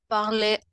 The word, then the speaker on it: parlaient: Eux, ils parlaient en anglais. ENT à la fin, on ne prononce pas.